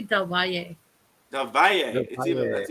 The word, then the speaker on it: Del Valle: Please welcome to the stage Del Val. Is it pronounced Val? I wasn't actually sure. Is it Val or Valet? It's actually Del Valle.